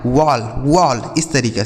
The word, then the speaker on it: wall: डब्ल्यू A double L, तो डब्ल्यू से हो गया दोस्तों व, इस ए का उच्चारण अ हो गया, डबल एल से ल, यह लिखा गया आपका वॉल। क्या लिखा, वॉल, ठीक है। इसे ना तो ओल पढ़ना है ना तो वाल पढ़ना है, क्या पढ़ना है, वॉल,